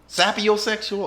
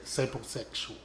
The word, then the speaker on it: sapiosexual: So, Sapiosexual or sapo? sapiosexual. How you spell it?